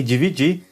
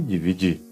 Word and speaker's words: dividir: E dividir, nesse caso aí você tem duas pronúncias, porque o DI é pronunciado como di em qualquer parte da palavra.